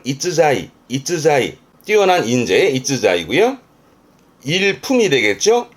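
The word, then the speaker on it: 逸材: 발음은 이츠자이.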